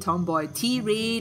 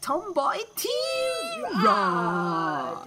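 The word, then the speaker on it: Tomboy Tirade: Yeah, and we don't pronounce it Tomboy T-Raid or Tomboy Ty-Raid. We like to say it the way we like to say it, like Tomboy T-Rod.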